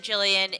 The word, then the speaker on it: Gillian: oh my god Gillian do people really pronounce it Gillian I feel like I don't listen I'm bad at a lot of things but I do know that Gillian isn't a hard G the moon chair okay